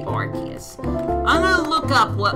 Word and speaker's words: Arceus: I'm just gonna look up what Arceus is, or Arceus, however you wanna pronounce it. I say Arceus.